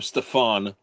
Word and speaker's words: Stefan: So Neo says that he pronounces his first name Stefan, and I am culturally insensitive.